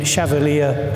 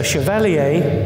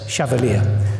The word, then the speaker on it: Chevallier: introduction and for pronouncing chavalier correctly his portrait is here many people think it's chalier because of the famous um French um song song person but it's chavalier thank you so what